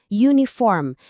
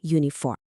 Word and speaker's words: uniform: Walaupun tulisannya pakai huruf U, cara kita bacanya itu ada bunyi Y di depan uniform. Dan bunyi Y itu konsonan.